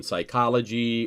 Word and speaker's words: psychology: n the p is silent so as in psychology or pneumonia the p is silent most of you probably